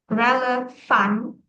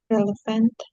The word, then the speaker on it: relevant: Kalau bahasa Indonesia ngikutin tulisannya A, jadi relevan. Nah, tapi Ah, kalau bahasa Inggris relevant, relevant.